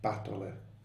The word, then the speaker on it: batole: and I've certainly remembered batole from this. If I ever forget, I just remember the poem, and I remember that it rhymes with nastole, and somehow it comes back.